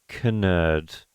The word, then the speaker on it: Knerd: Knerd. Like, yeah. Is it because you pronounce something with like a silent Yeah, is K, your last you know what name I mean? Like, nerd, but it's actually Knerd.